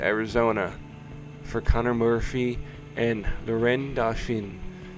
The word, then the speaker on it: Laurent Dauphin: for Connor Murphy and Laurent Dauphin, if you say his name as a Frenchman, which I just did.